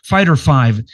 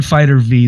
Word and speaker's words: Fighter V: Fighter 5. They want to pronounce that Fighter Vive. Fighter 5. I've been saying Fighter V the whole time, but it's a Roman numeral for 5.